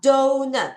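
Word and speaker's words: doughnut: 자, 그 다음 donut. 철자가 너무 어려웠죠? do 다음에 소리가 안 나는 GH. 그 다음에 nut. GH가 이런 발음이에요. donut.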